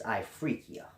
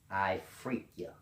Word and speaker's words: Ifriqiya: a place known as ifriqiya if I'm pronouncing it right i F are I Q I Y a I free Kia and this was like